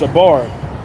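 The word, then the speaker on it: שבר: That word broken there in the Hebrew is pronounced shabar.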